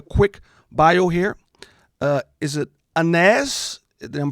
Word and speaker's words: Aynaz: Is it Aynaz? I'm pronouncing it right? It's Aynaz.